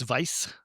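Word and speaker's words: Weiss: and they have a wife beer um and so when Isn't that pronounced vice?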